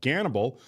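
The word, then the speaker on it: Gannibal: Guys, I recommend this series called Ganibal. It's about a young policeman who moves to a remote village, but the village is stranger. than he thought. Is it filled with cannibals? Cannibal rhymes with Ganib.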